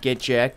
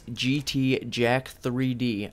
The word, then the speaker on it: GT Jack 3D: saying it wrong and the name is not get jacked it's GT Jack 3D I think you misread